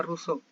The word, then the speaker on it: Rousseau: Se escribe Rousseau, pero se pronuncia Rousseau.